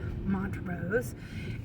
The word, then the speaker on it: Montrose: And this was in a town called Montrose, which I would have pronounced Montrose, but that's how they pronounce it, Montrose.